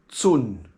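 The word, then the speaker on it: 寸: inch which is spelled the C is pronounced like a TS soon and uh the word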